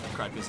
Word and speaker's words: Kradfiz: So I guess if I were in Kradfiz, Yeah, Kradfiz is how you say it.